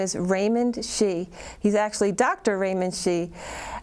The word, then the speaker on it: Xie: So the Chinese way of pronouncing my last name is Xie. It's like S-H-E-A, something like that. Sure. But my colleagues, many of them call me, because it's a lot easier for them to pronounce. That's right, Xie. Yeah. That's the English way.